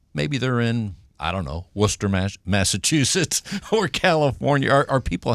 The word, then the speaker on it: Worcester: And by the way, Matt, you were a little surprised that I was able to pronounce that properly. Right. Worcester, Massachusetts. I was. Not Worcester like some people do.